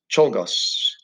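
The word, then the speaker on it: Czolgosz: okay and uh togos cholgos that's how you say it leon told tolgos uh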